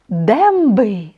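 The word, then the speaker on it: dęby: у нас е носовий Давайте його вимовимо правильно і читаймо слова демби дуби демби земби так зуби прошен прошен прошу пішен пішен пишу ви бачите що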